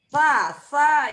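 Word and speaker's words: ث: Sa itu S tipis. Jadi digigit juga di ujung lidah. Ujung lidah digigit sama gigi depan.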